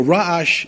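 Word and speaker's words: רעש: Now, in real correct Hebrew, ra'ash is the ayin is a very guttural letter. It's a ra'ash. The Sfardim know how to pronounce it. And it's almost like regesh. So ra'ash and regesh, noise and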